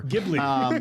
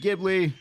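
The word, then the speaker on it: Ghibli: Gibli. Genobbi. Gibli.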